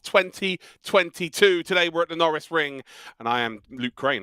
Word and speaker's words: Norisring: chat many a time it's like lando norris so we actually called it the lando norris ring for the year so that's how i would pronounce it norris ring it is one of